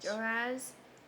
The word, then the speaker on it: Jehoahaz: Jehoiakim, and Pharaoh took How to pronounce Jehoahaz. Jehoahaz and went to Egypt, and he died there.